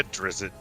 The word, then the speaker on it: Drizzt: Am I pronouncing these names correctly? You're the D&D guy here. It's definitely not me. Yeah, Drizzt.